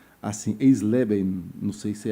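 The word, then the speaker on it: Eisleben: é difícil falar pronunciar isso aqui mas vou pronunciar assim esleben não sei se é assim que você escreve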